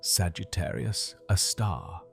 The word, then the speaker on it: Sagittarius A*: We call it Sugi, a star for short, pronounced Sagittarius, a star.